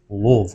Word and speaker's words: Louisville: comments by the way just like Louisville is pronounce Lille Lille I don't care how you want to